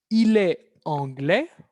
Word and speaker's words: anglaise: Entonces, este ejemplo, repito, es para ver la diferencia de pronunciación en el cuarto caso que tengamos, entonces, de la feminización de los adjetivos, tengamos una consonante muda, al pasarla a femenino, se libera el sonido de la consonante y entonces escuchamos, con